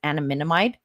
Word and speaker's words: anandamide: It includes the bliss molecule, which is anandamide.